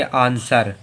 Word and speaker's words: answer: ANSWER में क्या है? जो W है वो यस के बाद में आ रहा है, यस के बाद में अगर आएगा तो W साइलेंट है। इसे क्या पढ़ेंगे? आंसर, क्या पढ़ेंगे?